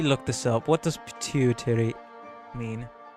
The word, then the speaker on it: pituitary: What does pituitary mean? How is it pronounced? Pituitary. Pronunciation, please. Pituitary.